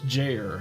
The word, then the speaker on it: Jair: Rhymes with, chair, so it's Jair.